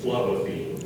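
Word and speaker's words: phlobaphene: medicine as an astringent are there any alternate pronunciations no just the one flavine flavine may I have the part of speech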